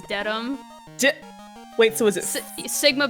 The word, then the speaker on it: Dedham: Framingham, and then you would think it's Deadham, it's Dedham.